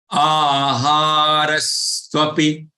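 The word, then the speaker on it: आहारस्त्वपि: There is aghat, stress on this last year. So if you pronounce recite both the charans together in one breath, then you should take this stress, which is for the half letter ta.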